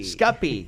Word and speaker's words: Scuppy: So is that or Scuppy? Scuppy, gotcha.